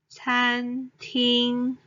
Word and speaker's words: 餐廳: term 貓咪 is cat these two Chinese characters 猫 and 咪 are pronounced with the first tone 貓咪 cat then 餐廳